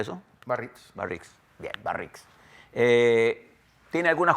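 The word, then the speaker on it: Biarritz: El G7, que se celebra en la región de Barrix, ¿cómo se pronuncia eso? Barritz.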